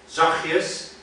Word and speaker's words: zachtjes: Another Dutch word is zachtjes. There is a T there, and some people pronounce the T, which is, I find a little bit annoying, to be honest. But it's only on the basis of the fact that it's in the spelling.